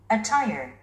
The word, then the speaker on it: attire: Attire, attire, Attire. 이 음절에 스트레스가 오고 있군요. attire, attire, 옷 또는 의상 또는 복장 이런 의미를 갖고 있습니다.